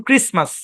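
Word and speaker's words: Christmas: হ্যাঁ খেয়াল করেন যেমন এখানে সাইলেন্ট এই শব্দের উচ্চারণ ক্রিসমাস ক্রিসমাস বুঝেন তো খ্রিস্টানদের ধর্মীয় সংক্রান্ত একটা হ্যাঁ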